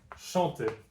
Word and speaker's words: chante: in almost every form, just drop the E at the end, and chanter becomes chante. And now you have the pronunciation chante.